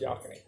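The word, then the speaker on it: Yocona: way y-o-c-a-n-a is pronounced yacony there's no way you get that pronunciation out of that spelling it's wrong it's just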